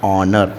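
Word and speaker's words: honour: इसे हम क्या pronunciation H ओ एन ओ यू आर ये देखिए यहां पर क्या हो जाएगा इसको एच साइलेंट हो जाएगा तो इसको हम क्या पढ़ेंगे ऑनर क्या पढ़ेंगे इसको ऑनर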